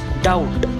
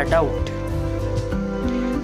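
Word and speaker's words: doubt: त्याच्या पुढं आहे डाऊट, स्पेलिंग आहे DBT. त्याच्यामध्ये जरी बी हा लेटर असला तरी तो सायलेंट आहे, तो ब्लिंक होताना दिसतोय तो बी, म्हणून त्याचा उच्चार होत नाही, उच्चार झाला डाऊट.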